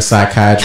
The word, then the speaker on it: psychiatrist: How come you can't hear a psychiatrist in the bathroom? The reason why is because the P is silent.